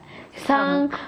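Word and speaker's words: cinq: The pronunciation. Kata. Why is number 5 letter? Sang.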